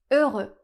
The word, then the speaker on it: heureux: Ici le mot commence par un H et en français on a beaucoup de mots qui commencent par la lettre H mais cette lettre est toujours muette, on ne la prononce jamais. Donc ici la lettre ne fait aucun son.